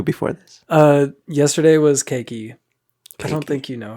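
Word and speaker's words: Keiki: talked about that yesterday she's not kiki you don't love me um it's cakey um how do you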